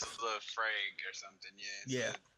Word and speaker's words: Laphroaig: He asks him what his Earn want, and Earn says Lafroy, which is LAPHROAIG or IAG. I guess it's an expensive ass liquor because it is spelled expensively. Scotch. It's a Lafroig or something.